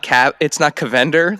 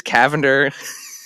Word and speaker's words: Cavender: You taught me it's not Cavender like Avengers. It's Cavender, and now it's Ghibli.